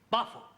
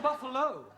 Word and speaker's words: buffalo: a big bull oh Buffalo terol confused yeah words that end in o like Buffalo or radio or vertigo you pronounce the O but when there is no o you don't add one understand yes sir I give